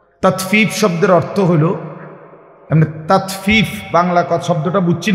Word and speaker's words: তাতফিফ: শব্দের অর্থ হলো এমনে তাতফিফ বাংলা শব্দটা বুঝছেন নি উচ্চারণটা ত আকার তা তত ফ দীর্ঘিকার ফি ফিফ এই তাত ফিফ এই হলো শব্দ অর্থ